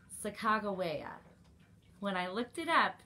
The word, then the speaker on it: Sacagawea: one that i think is the most accepted pronunciation chicago waya when i looked it up that's what i